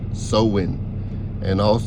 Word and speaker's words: Samhain: Samhain, pronounced Samhain, and called Halloween today, was also known as Ancestor Night or Feast of the Dead.